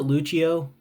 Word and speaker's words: Lucio: foli uh Lucio Lucho I pronounce it Lucho I feel like it's pronounce Lucho cuz I pronounce it